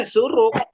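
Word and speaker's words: שׁוּרוּק: ini bacanya suruk. Kan betul ya? Oh iya, syuruk. Suruk. Iya, Ya, Surut. Surut dah. suruk. Suruk. Bukan Surut. pasang surut ya, bukan pasang surut.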